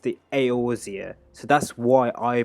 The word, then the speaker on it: Eorzea: Like when the beginning of Final Fantasy, he pronounced the Aorzia, so that's why I pronounced it. I would have pronounced it easier or something like that, or Oilzia, or like I don't even know.